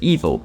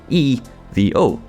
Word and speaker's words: EVO: we know so far about aeto cors at Evo normally in English we would say that this game is called aeto Corsa evil in the same way we'd have abbreviated the